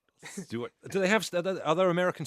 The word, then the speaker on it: Stuart: Because Americans don't have that pronunciation of ST or TU. It's the TU, which is the confuse. So they don't say they go on the tube. Right. Or Tuesday. They say Tuesday, tube.